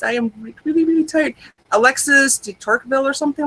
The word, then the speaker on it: de Tocqueville: Alexis de Tocqueville or something like that. Oh, did I get it right? Yeah, de Tocqueville.